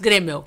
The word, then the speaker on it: Graeml: Isso, Gremel. Gremel, olha só. Sobrenome alemão é difícil de pronunciar.